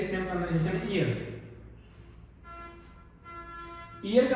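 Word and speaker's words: ihr: We next आता है हमारा ईयर। ईयर जैसे हम कान को बोलते हैं ना इयर इ ए आर इयर सेम की सेम कनसेशन ईयर।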